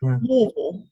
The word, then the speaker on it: Louisville: up in kentucky near louisville louisville louisville you've got to say it like you've got marbles in your mouth all right well i'm